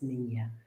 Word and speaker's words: Nina: Well, I'm Nina, and that's Nina, not Nina, not Nina, it's Nina. And that's little girl in Spanish. And it's also Columbus's smallest ship, if that helps you know how to say it.